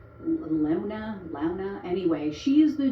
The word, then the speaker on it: Luna: And then there's a woman named Maylee, I think is how you pronounce it, Maylee Luna. It's Lewna.